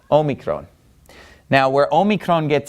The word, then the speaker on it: Omicron: which is Omega well Mega means big or large so basically what you have in Greek is the little o Omicron and the Big O Omega okay and they both make the same sound in modern Greek which is an o sound okay so this is